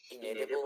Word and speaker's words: inalienable: things, but the most Inalienable rights? How do you pronounce that? inalienable rights. So like in and then alien, right? So alien Inalienable. and then bull.